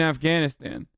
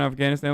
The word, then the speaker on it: Afghanistan: Stop pronouncing Taliban in Afghanistan like a white person. Taliban, Afghanistan. That's how I say it as a Turkish person.